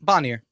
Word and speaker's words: Bonier: Bonnier.